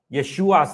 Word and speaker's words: Yeshua: Secondly, even the emphasis is on the wrong syllable. All right? Uh Yeshua's name is pronounced Yeshua. All right? The the the emphasis is on the last syllable uh on the Well, it's on the second last syllable in in our in our hearing, all right?